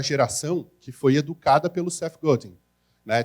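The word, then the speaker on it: Seth Godin: que foi educada pelo CEF golding né Tem gente que fala CEF godando ele mesmo fala eu não sou canadense eu sou americano é CEF golding né ele mesmo pronuncia dessa forma eu tive que aprender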